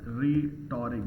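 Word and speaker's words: rhetoric: this इ called रिटोरिक रिटोरिक यहां पर एच साइलेंट रहता है और रिटोरिक एस नाउन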